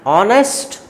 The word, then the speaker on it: honest: An honest boy. Though the word is beginning with the H, but H is silent here. That is why it is giving vowel sound.